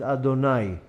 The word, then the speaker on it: Adonai: is the name Aleph darlin renewed that we pronounces Adonai even though we pronounce also you'd came off